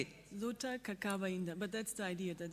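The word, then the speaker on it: Luta ainda: Luta, inda, but that's the idea that is really difficult. Luta, inda, exactly, which basically means the struggle is not over yet, yeah?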